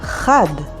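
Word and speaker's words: חד: Another word is Chad, which means sharp, and spelled with Chet, and daled, chad.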